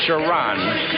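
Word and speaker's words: Sharone: in the middle here is sharon wright it's pronounced sharon wright clemson 611 262.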